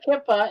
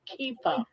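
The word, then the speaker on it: kippah: And But in it's my not pronounced kippa. It's pronounced kipa.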